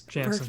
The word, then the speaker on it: Janssen: Am I pronouncing that correctly? Yes, Janssen.